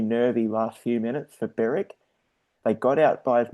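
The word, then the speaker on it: Berwick: eastern football league um beric. Now beric uh apparently called the wickers which is one of those strange things where you don't actually pronounce the w in beric but you do pronounce the w in wickers.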